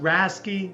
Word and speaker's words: RASCI: the top things you need to know it's pronounced rasy you may also see it as racy model